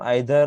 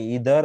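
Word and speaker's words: either: Actually हम आइदर और नाइदर बोलते हैं, पर इसका प्रोनाउंसिएशन होता है ईदर और नीदर, ईदर और नीदर नॉर।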